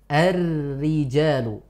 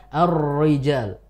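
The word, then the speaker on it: الرجال: Annisa juz 5 itu kita membacanya dengan seperti ini arrijal arrijalu bukan arriijal oh kerasa bedanya Ustaz Ya beda antara tebal dan tipis memang beda i ya ya Jadi kita baca dengan tipis tarqik namanya Ar arriijal agak kebuka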